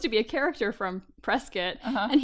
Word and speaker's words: Prescott: be a character from Prescot and he pronounced it Prescott and I was like nope nope see you got to